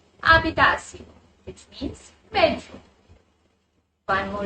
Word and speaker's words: habitación: Now, this is a H letter word, so H will be silent and the word will be pronounced as habitación, which means bedroom.